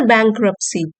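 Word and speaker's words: bankruptcy: एं and Tesla near bank रप्स bank रप्स T silent है इसमें near बैंकर पसी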